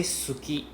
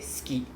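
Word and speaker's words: すき: We don't say suki. We say ski, right? We just can we just pretend the u is not there. Silent u. So instead of saying s and we just say ski ski right so people always say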